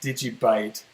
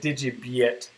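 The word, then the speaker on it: DigiByte: yet i know that it's supposed to be pronounced did you bite but i like to be one of those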